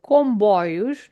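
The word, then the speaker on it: comboio: So comboy trains combo uh the word combo has this m at the the end of the first syllable that is not to be pronounced as m but it's it's to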